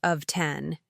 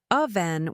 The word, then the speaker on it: often: This one actually has two acceptable pronunciations, but the traditional and more elegant way is of a silent t. Many people say of 10. And while it's not wrong, aven will make you sound more sophisticated and natural to native speakers who know the traditional pronunciation.